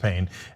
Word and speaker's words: Payne: his name is Dr Payne yeah I know okay it's p-a-y-n-e but it is pronounced pain and he does and